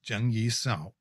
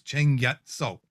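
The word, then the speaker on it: Cheng Yat Sao: find in all the articles written as jung yi sao in cantonese which she would have spoken it was cheng yat so so you can see there's quite a bit of difference in the pronunciation and so for me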